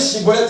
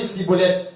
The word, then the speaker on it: Schibboleth: On dit Chibolette, il dit Cibolette.